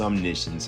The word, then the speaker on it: Omniscience: Psych, I know it's pronounced Omniscience, I'm just teasing you.